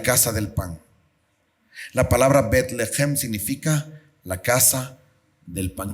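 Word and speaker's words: בית לחם: Betlehem.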